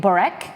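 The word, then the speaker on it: börek: this is filo pastry we're gonna make borax I think that's how you pronounce it b-o-r-e-k easy are you there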